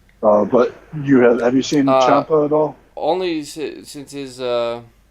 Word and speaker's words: Ciampa: So there's not like I guess Champa is the only one. Or what do you? How do you say his name? Because it's not CH, CIA. Yeah. Ciampa, Ciampa with a CH. The CI makes a Okay.